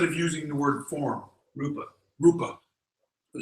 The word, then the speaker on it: Rupa: But that is, am I pronouncing the word right? Rumpa? Or the? You mean Rumpelstiltskin? No, I'm not pronouncing the word. Instead of using the word form, Rupa.